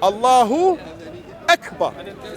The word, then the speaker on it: Allahu Akbar: and then you say X but then say Allahu Akbar okay so this is the right way to